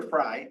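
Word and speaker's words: Frey: One of the things that happened is that the board approved the sale of the Wild Fray or Fry, F-R-E-Y, if anyone knows, let me know, for $325,000.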